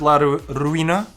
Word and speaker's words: La Ruina: The creator of the game, Richard La Ruina. Is that right, Sam? Did I pronounce it correctly?